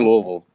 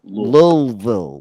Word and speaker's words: Louisville: Which is near Louisville.